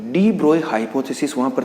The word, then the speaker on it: de Broglie: ठीक है ना, ये एक्चुअल में जो वर्ड है वो डी ब्रोगली नहीं, हम जनरली इसका जो प्रोनाउंसिएशन करते हैं वो डी ब्रोगली करते हैं, जबकि ये वर्ड क्या है डी ब्रोए, because French word है।